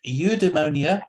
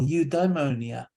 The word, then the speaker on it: eudaimonia: n't a different pronunciations it can be pronounced eudemonia or eudaimonia so they it can mean it or an i sound in the in the demon now this is the